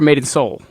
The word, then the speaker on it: Made in Seoul: Town and um Maiden is it made in Seal or made in Seoul made in Seoul made in Seoul um silent E for anybody who wants to look it up yeah because I mean